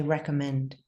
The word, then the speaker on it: recommend: But Americans would say recommend, recommend, recommend, recommend.